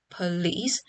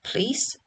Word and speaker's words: police: The first one, which tends to be reduced from 2 syllables, police, to 1 syllable, please.